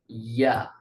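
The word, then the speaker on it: ي: ওয়াসাতুল লিসান, জিহ্বার মধ্যখান, এই পুরোটা তো মনে করেন জিহ্বার মধ্যখান, কিন্তু মধ্যখানের শুরু ভাগ থেকে উচ্চারিত হবে জিম, বরাবর মধ্যখান থেকে শিন, আর মধ্যখানের শেষ ভাগ থেকে উচ্চারিত হবে ইয়া।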